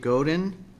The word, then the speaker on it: Godin: chair next up then would be I'm apron at mispronounced his last name but Godin the Oregon Coast anglers thank you that was perfect pronunciation of my last name very good thanks thank